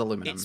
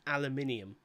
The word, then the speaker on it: aluminium: Gold, silver, bronze, It's aluminum. pronounced aluminium.